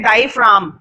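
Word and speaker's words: diaphragm: तो देखो ये वर्ड लिखा हुआ है ना वहां पे, इसको पढ़ते हैं डाइफ्राम। क्या बोलते हैं? डाइफ्राम। जी साइलेंट होता है, फ्रैगम नहीं पढ़ते, फ्रैगम नहीं है ये, डाइफ्राम है।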